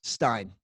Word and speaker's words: Stein: your second name Stein Steen how do you pronounce it best Stein Stein Addams Stein Stein jr.